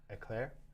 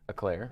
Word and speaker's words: Eau Claire: We've got Brent Schubel out of, I can't pronounce that, Eau Claire, E-A-U Claire, I don't know, sounds French or something. Eclair? Eclair.